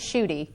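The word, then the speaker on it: Schuette: This year's problem dealt with the case of, I don't know if I'm pronouncing this right, Scholt? You know, it Or was Schulte? we pronounced it as Schutte.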